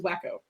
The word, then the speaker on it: Waku: And the owl bear friend was Waku. Yes. Oh, John always told me that he pronounced it. I was pronouncing it incorrectly, and that it was wacko.